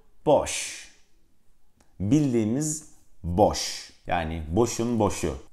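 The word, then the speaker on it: Bosch: ile yazılırdı benim ismimi Dolayısıyla bu markanın doğru telaffuzu boş bildiğiniz boş yani boşuna boşu Evet arkadaşlar Bu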